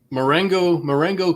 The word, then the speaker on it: Marengo: Marengo Caves, yes.